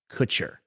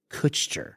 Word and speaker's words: Kutcher: know over the years I've gotten so much grief about how I say the name Ashton Kutcher how do you say it Ashton Kutcher okay I think in the past I've said Ashton ker I think you have